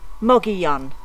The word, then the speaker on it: Mogollon: enjoyed the tour through mogayan today i hope i said that right so or as the locals say moggy young there we go monkey